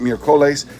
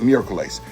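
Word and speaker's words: miércoles: on the first syllable the three-syllable word for Wednesday meerkles instead of mercolis all right so if the accent mark wasn't there you'd pronounce it mere Colace it accent marks there you pronounce it Miracles that's the acts of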